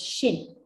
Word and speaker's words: sinh: let's call it as shin sinh okay you can call it a sign h sin hyperbolic or shin let's call it as shin so now i have